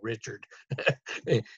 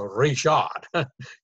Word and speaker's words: Reshort: I know they always pronounce his name wrong. They say Rod Richard in Louisiana. It's a Reshort.